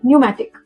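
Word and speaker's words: pneumatic: before S एट the start like in psychology psychiatric physique before N एट the start like in निमोनिया न्यूमैटिक इन the middle of some words like receive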